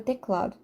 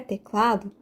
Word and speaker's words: teclado: sim teclado é teclado então de fato o cla é a sílaba tônica a sílaba que eu